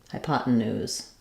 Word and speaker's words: hypotenuse: this with an a IP new or ooze hypotenuse um sound at the end so the hypotenuse